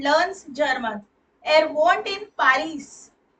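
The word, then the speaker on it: Paris: German air won't in पारिस तो पारिस pronunciation देखिए पारिस आ होता है ना ये इसलिए सो ही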